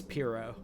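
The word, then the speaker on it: pirogue: Cuz of that whack ass pseudo French pronunciation.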